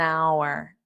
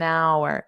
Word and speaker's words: hour: Over an hour. So remember our the h is silent which is why we have an because an is used